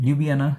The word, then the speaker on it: Ljubljana: able to pronounce it correctly but the correct pronunciation is Loop B yeah libyana okay so lubiana so it's around one and a half or